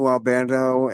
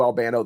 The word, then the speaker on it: Albano: Uh probably Captain Lou Albando and the Cindy Lob Lopner.